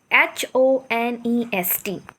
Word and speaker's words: honest: It starts with H. But still there's a sound of vowel.